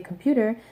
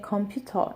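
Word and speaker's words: 컴퓨터: it's an English word I should just say computer no say computer and that will immediately make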